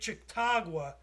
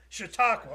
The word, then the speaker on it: Chautauqua: So the other thing is there's a lake, and I'm terrible with Indian names, Lake Chautauqua. They've started a class action suit. Is that how you say it? Chautauqua.